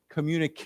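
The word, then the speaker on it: communiqué: has a French origin we would we would pronounce this as a k communic not a que orqa it's K okay so why don't we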